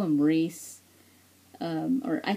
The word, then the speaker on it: Rhys: how to say his name I call him ree um or I call him rise not Reese but I heard his name is pronounced Rees um I don't know I I